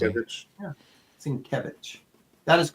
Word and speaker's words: Sienkiewicz: The only reason I pronounce it the way I do, because Jim Shooter once did a phonetic pronunciation in the comic book. And I get it. I get it now. So how did and that's why I said Sienkiewicz, like Kevin almost.